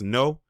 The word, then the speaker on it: Ngo: Andy no the one his last name is spelled NGO but I believe I believe it's pronounced no that's he's basically a